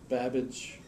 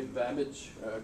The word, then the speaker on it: Babbage: would start funding things Babbage was one his name rhymes with cabbage so it's easy to remember and other way Babbage created a really room